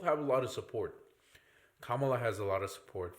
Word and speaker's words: Kamala: to jump on me it's Kamala say her name right oh Kam Kamala Kamala